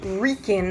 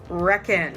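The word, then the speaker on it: Wrekin: let us know that the proper pronunciation was rican and not reckoned as we said before yeah we were saying around the reckon when really it should have been round the Rican sounds a lot better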